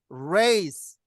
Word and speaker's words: race: race, 레이스. wrong. wrong. 근데 L이 들어가면요. L은 이 혀를 내미는 발음이거든요.